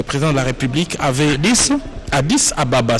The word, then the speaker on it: Addis Ababa: Le président de la République avait Addis Ababa, c'est comme cela que ça s'écrit et se dit lorsque vous êtes à Addis. Mais pour nous, les francophones, Addis Abeba.